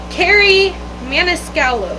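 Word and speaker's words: Kerri Maniscalco: mana sculpey mana scalo carrie maniscallo i'm very sorry if i mispronounced that uh i don't know why i was putting a p in there either there's no p in her name this was good i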